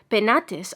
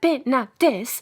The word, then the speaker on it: Penates: It is to be observed that in proper names the final E and ES are to be sounded. Thus, Sibylle and Penates are words of 3 syllables. Thus, Sibylle, and Penates are words of 3 syllables.